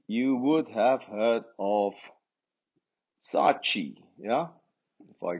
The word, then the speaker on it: Saatchi: This chi is a suffix. That should really be Sa'at. Two A's and another A. Sa'at. Chi.